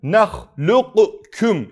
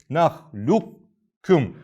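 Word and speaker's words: نخلقكم: bir yerde olan Elem nahlukkum şeklinde okunur bu nahlukkum nahlukkum şeklinde okunur burada arkadaşlar ne yapıyoruz lafı ortadan kaldırıyoruz şekli veriyoruz Elem nahlukkum şeklinde okuyoruz Bu bilgiyi de bilelim İnşallah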